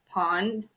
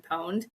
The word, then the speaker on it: pwned: I said, have I been pawned instead of have I been pwned? I like knew the word pwned, but I didn't realize it was spelled like that.